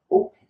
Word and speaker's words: opened: past of close, eliminate the E and it will sound like closed. Repeat with me. Closed. The same thing with opened. Right? When you say open it, close it, it sounds horrible. So don't do that. Eliminate the E in most of the verbs that finish in ed.